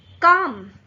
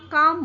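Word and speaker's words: calm: काम यहां भी एल साइलेंट हो जाता है और हम काम बोलते हैं। आ के बाद सीधा म का साउंड आ जाता है।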